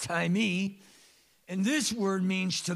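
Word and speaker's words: τιμή: that's translated on her it looks like the word time it has an extra e it's pronounced tie me and this word means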